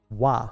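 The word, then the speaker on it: は: You type it in as ha. It's the letter ha in Japanese. However, it's pronounced wa as a grammatical function in a sentence.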